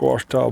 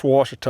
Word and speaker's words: Ouachita: There's no Lake Ouachita bass.